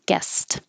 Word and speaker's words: guessed: the same guest guest this looks like an e d but it sounds like a t because the s at the end of the word of guess is voiceless so you um keep your voice off and the d changes to a t guessed weak they sound